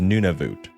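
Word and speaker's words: Nunavut: And last but not least, a name that I can never pronounce, but I think it is Nunavoot.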